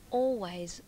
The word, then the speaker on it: always: some words that everybody has seen, written like always, which is pronounced by some people as always. They skip over the L.